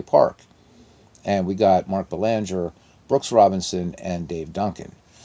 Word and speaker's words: Belanger: All right, Belanger, or Belanger, if you like the French pronunciation, because he's half French, half Italian.